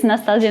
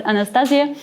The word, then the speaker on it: Nastassia: As you can see on the slide, my name is Nastassia, maybe very difficult to pronounce, but just remember it's Nastassia, not Anastasia, because I'm frequently asked about that.